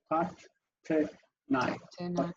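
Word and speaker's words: תתני: So technically, it should be a vocal shabbat. Tat, te, nai. Right. So 3 syllables, yeah?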